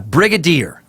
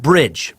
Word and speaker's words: brigadier: sucker Jessie Lincoln ya Brigadier now let's see if that sticks Brigadier not bridge brigadier brigadier yet again not douchey you